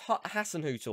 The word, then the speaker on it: Hasenhüttl: Okay, I better pronounce this right. Ralph Hasenhüttl or Hasenhüttl, which way do you say it?